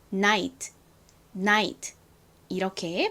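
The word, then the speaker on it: night: 됐어요 자 그리고 봤더니 gh가 t의 앞에 쓰였어요이 경우 대부분 뒤에 있지는 묵음이다 소리가 나지 않는다라고 말씀드렸었죠 그러니까 그냥 티만 소리가 나게 됩니다 t의 소리는 티읕 소리 듣 소리가 나죠 그래서 합쳐보면 발음이 나이트 나이트가 됩니다 나이트가 아니라 아픈 강조하고 뒤는 소리가 쓱 빠지면서 나이트 나이트 이렇게 발음해 주셔야 합니다 복습할 겸 한 번만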